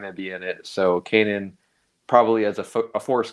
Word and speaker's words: Kanan: Um, is Kenna, that's how you say it. You You're the Star Wars guy. Kanan. Just Kanan.